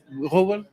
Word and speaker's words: Wrubel: Did I say it right? Wrubel? That's fine.